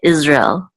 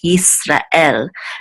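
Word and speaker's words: ישראל: But in Hebrew, they're much more distinct, these two syllables, Yisrael. And this is the trope or accent mark, and it's at the end of, it's on the last syllable. So Yisrael, okay, not Israel. It's not Yisrael, like more like English. It's Yisrael, okay.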